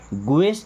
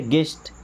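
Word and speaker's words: guest: गेस्ट, गुएस्ट नहीं क्या पढ़ते? गेस्ट, गेस्ट का मतलब होता है अतिथि।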